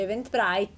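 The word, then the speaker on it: Eventbrite: San Paolo potete fare event event br si scrive Esatto si legge event Bright e prenotarvi Grazie intanto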